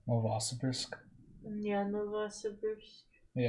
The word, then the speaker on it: Novosibirsk: Because it's Novosib, so Sib, IRSK. Bursk, yeah. Novosibirsk. If we're saying that wrong, someone please correct us. Yeah, we're probably saying it wrong. Novosibirsk. Yeah, I'm inclined to say like Biersk as well.